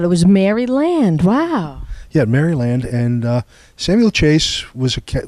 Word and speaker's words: Maryland: Helen actually it's pronounced Maryland we had yeah the back then it was this the colony was named for Queen Mary really I didn't know that it was Maryland wow yeah Maryland and uh Samuel Chase